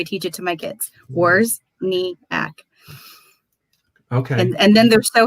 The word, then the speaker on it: Wawrzyniak: As I stumble over my words, Wawrzyniak, 3 syllables. Wawrzyniak. That's how I teach it to my kids. Wawrzyniak.